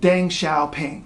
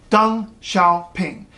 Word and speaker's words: Deng Xiaoping: ping now that looks like it might be pronounced Deng Xiaoping right no dung Xiao ping in the 1980s you'd hear the guy's name